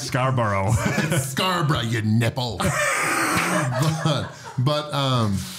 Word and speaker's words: Scarborough: was one of the questions how do you pronounce Scarborough Scarborough you nipple but um but yeah no